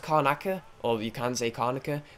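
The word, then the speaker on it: Karnaca: good dishonored I some reason call it in Kona Coast sometimes is khan is konica or is pronounced Conacher actually so pronounced konica or you can take arnica for some reason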